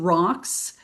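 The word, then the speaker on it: ROX: So, Bowox, we have a whole family of products based on the science of rocks. Rocks is spelled RO X and it stands for reserve or reservoir of oxygen.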